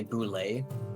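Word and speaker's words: Bulette: The creature is actually pronounced as a boulet, which is funny because it's not supposed to be pronounced like that because it's based upon the French spelling.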